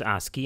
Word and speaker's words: ASCII: the two modes were Modbus RTU and Modbus ASCII es CI is pronounced ASCII and is really the American Standard Code for